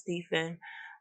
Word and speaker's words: Stefan: Today's topic is about a man named Stefan Michalak, and I believe I'm pronouncing his name correctly. It's spelled Stefan. I've seen a couple different spellings for his name, but I believe it's pronounced Stephen.